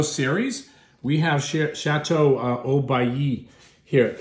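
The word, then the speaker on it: Haut-Bailly: we have sh chatau oay here it's pronounced oay and they are an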